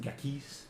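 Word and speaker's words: Ghakis: It is pronounced Gakis, actually.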